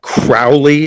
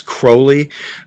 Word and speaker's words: Crowley: And that is how you pronounce her name, the name. It's not Crowley, it's Crowley.